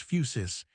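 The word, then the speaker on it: φύσις: Against it, Diogenes set physis, pronounced phusis.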